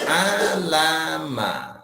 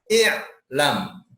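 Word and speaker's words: اعلم: Jadi a'lam. Sulit kan dibacanya? Tuh, dikasih alif. Dibacanya apa tuh? I'lam. A atau I, alifnya dibaca I.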